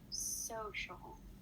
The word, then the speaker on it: social: the sh sound so the first word is social what sound do you think gets stressed um social the first sound good so the sound stressed and do you know why the soul gets dressed in the word social because it's before the show sound good yeah so it